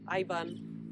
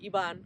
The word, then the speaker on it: Ivan: So one of them, Ivan, or Ivan, as I was saying it, because I was saying in the Spanish pronunciation.